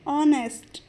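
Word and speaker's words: honest: dissonance में कहेंगे नेस्ट यहां पर एच साइलेंट होगा और ओ एन ई एसटी का प्रोनंसिएशन करेंगे तो इसे बोलेंगे ऑनेस्ट वीक कमजोर वीक रिलाय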